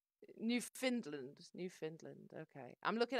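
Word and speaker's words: Newfoundland: unethical Canada Goose coats you have to hear a Canadian pronounce it New Finland New Finland okay I'm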